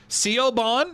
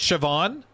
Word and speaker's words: Siobhan: How do I pronounce it? English is clearly not consistent. No, it's not. Sebon.